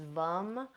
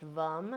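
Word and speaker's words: VAM: the seed sound for the sacral chakra is vum V it's spelled v m but it's pronounced vum and you could bring that in and kind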